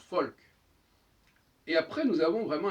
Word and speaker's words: Volk: Là, c'est pas si surprenant que ça, puisque le Vav, le V, se prononce aussi Feu, comme en allemand, par exemple, Volk, ça se prononce Folk.